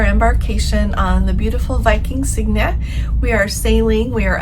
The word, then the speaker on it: Sigyn: Today I am going to tell you all about our embarkation on the beautiful Viking Sigyn.